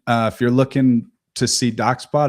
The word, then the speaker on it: DocsBot: Or DocsSpot sometimes. Exactly. No, it's DocsSbot. DocsBot, like documents bots.